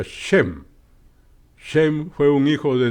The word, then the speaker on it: Shem: que hablan lenguas semíticas el término viene del griego sem que se pronuncia shem shem fue un hijo